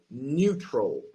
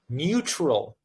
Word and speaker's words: neutral: So, it's actually neutral. neutral neutral neutral The U has to be more like you with a with a Y.